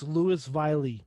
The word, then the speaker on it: Louisville: got i don't know i got called out for saying it wrong on a podcast a couple weeks ago so and i didn't i didn't learn while i was there so it's louis valley louis valley listen i interviewed this